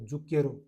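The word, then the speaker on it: zucchero: है जुक प्लस के, सी एच ई को के बोलते हैं, और आर ओ को रो, जुकेरो, जुकेरो बोलते हैं भाई चीनी को, सबसे मीठी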